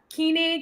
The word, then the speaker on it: Koenig: your last name um it's German so it means king in German um so and it's I think I can't Keen I think is what they how they say it in Germany wow that is so